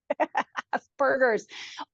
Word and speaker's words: Asperger: Aspergers, is it Aspergers? I It's don't know. P. It's P. Aspergers and As per autism. per, as in like a cat purr.